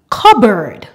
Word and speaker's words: cupboard: pneumology rule number two when we have p and B together in the middle of a word the p is silent for example cupboard raspberry the final rule